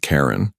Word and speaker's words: Ka'Ren: Her name was Ka'Ren, not Karen, like the human name, but Ka'Ren, with a soft, rising sound at the end, almost like a musical note.